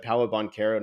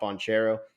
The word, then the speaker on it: Paolo Banchero: You said Paolo Banchero, not Bonchero.